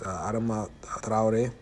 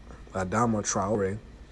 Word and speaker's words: Adama Traoré: Issues of police brutality have been raised in France for many years, with cases such as Adama Traoré. That's how you really pronounce it, but in English they pronounce it Adama Traoré.